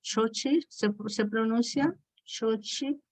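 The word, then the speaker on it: Xóchitl: Xochitl se pronuncia, Xochitl, ¿ok?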